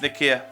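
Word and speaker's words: Nikeah: uh North to the nikea I want to call it nikea I mean it's how it's pronounced it pronounced uh but there was a recent mudslide it's Nika uh yeah I know that's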